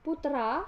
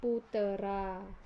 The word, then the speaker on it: putra: penambahan fonem E6 misalnya kata Putra dilafalkan menjadi Putera kemudian kesalahan pelafalan Karena